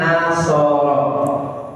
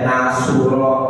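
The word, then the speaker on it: نَصَرَ: Orang Arab ini bacanya nasoro enggak ada yang baca nasura nasira ya tapi nasoro ya.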